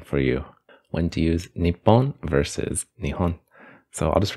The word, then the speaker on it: 日本: type of thing yeah in 1934 the Ministry of Education decided to standardize the pronunciation as npon but this decision was